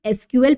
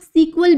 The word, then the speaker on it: SQL: कई बार सुने होंगे बहुत सारे लोग एसक्यूएल प्रोनाउंस करते हैं कुछ लोग सीक्वल भी बोलते हैं क्यों सीक्वल बोलते हैं क्योंकि जब 1974 में एस ल बना था तो उसका पहले जो फुल फॉर्म था वो था structured English query language structured English query language तो इसके हिसाब से लोग इसको सीक्वल प्रोनाउंस करते थे लेकिन बाद में हुआ